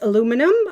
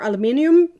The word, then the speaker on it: aluminium: types right typically it's either metal which is aluminum uh or aluminium depending on how you say it then we